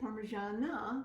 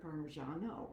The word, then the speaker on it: Parmigiana: title, Parmigiana di Melanzane, Parmesan is generally Parmigiano because it's cheese and it's masculine, but since it's associated with melanzane, which is feminine, it turns into feminine. So you pronounce it Parmigiana instead of Parmigiano.